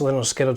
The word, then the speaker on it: Lynyrd Skynyrd: Pronounced Lynyrd Skynyrd.